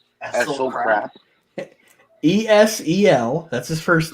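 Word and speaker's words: Esel Krap: The Gentleman and Nightmare lost to Essel Crap. Essel Crap. ESEL, that's his first name. His last name is spelled KRAP.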